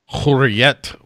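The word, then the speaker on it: Hürriyet: How is it pronounced? Hurriyet.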